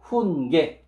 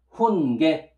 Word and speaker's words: 훈계: Then, giok and vowel ye, ye, will pronounce as ge, ge. So, hun ge. Hun ge.